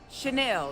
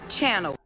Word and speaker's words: Chanel: Chanel, not Channel.